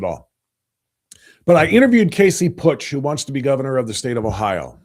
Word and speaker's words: Putsch: He said, no, it's Putsch, like put your money where your mouth. Okay. Sorry about that, Casey. Meant no disrespect at all. But I interviewed Casey Putsch, who wants to be